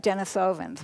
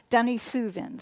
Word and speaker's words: Denisovans: and here's the name it looks like Denisovans right but according to the New York Times its dummy souvent that's how we pronounce that and what they found